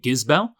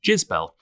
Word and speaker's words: Gisbelle: of this but I believe it's supposed to be jizel um which is yes a very strange name for a Chinese whiskey um it's very French sounding um the presenter at the festival kept pronouncing it gizell um which also works quite nicely um some people have just been referring to it as jizel not so not so keen on that one uh so either the